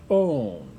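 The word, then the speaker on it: -one: are categorized by all ending with O and E pronounced own and so these would be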